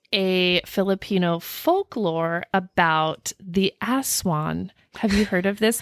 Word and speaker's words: aswang: I came across a Filipino folklore about the Aswan have you heard of this before it's spelled it's spelled um a-s-w-a-n-g but it's pronounced as one I did in my research for this project